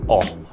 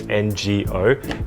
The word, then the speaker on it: 我: And it's a very simple word to remember because it sounds like oh. It's literally just like oh. And you'll hear a lot of native speakers, even though the pronunciation in Yutpeng is NGO, implying a sort of sound before the O.